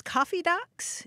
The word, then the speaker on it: kaffedags: And as far as it goes, like coffee, like the brown liquid in a cup, and then docks, like wooden piers out in water, which makes no sense, but that's how I always heard it.